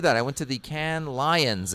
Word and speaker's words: Cannes: I went to the Can Lions. It's pronounced whatever. Can Lions. I always like to be French. As we call it in Winnipeg, the Cannes Lions.